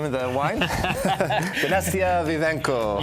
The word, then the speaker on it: Dinastia Vivanco: Dinastia Vivanco. You got to throw a little bit of a little flair when you say it.